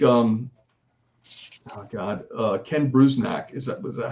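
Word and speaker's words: Bruzenak: Uh Ken Brznack. Is that was that how you pronounce his name, Jimmy?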